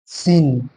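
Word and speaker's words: سين: সিন, এটা সিন, সিন, সিন, এটাকে আমরা কি বলবো?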